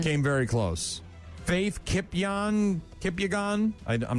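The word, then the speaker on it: Kipyegon: Faith Kipang Kipyagon. I I'm not quite sure how to pronounce her last name. It's Ki Po N. Kipyagon.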